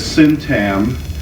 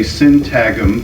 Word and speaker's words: syntagm: always pronounce it as syntam, but I've heard other people say syntagm, because the G, there's a G, which I think is silent.